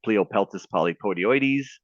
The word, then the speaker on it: Pleopeltis polypodioides: This is one of my favorite scientific names to pronounce. It's Pleopeltis polypodioides.